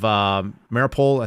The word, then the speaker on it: Mariupol: And the protest was about freeing the Azov defenders of Mariupol, I think is what it's pronounced.